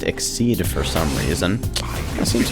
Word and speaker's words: Xyz: mystery XYZ and Yu-Gi-Oh's pronounced exceed for some reason that